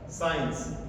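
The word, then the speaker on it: science: तो ये एस के बाद में तुरंत बाद में सी आ रहा है और ये सी क्या रहेगा हमारा साइलेंट रहेगा साइंस इसमें सी का कहीं भी कोई ध्वनि नहीं आएगी तो ये बात हमने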